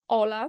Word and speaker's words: hola: Co prawda, na początku pisze się je z literą „H”, jako „hola”, ale czytamy je jako „Ola”, ponieważ „H” w języku hiszpańskim jest nieme.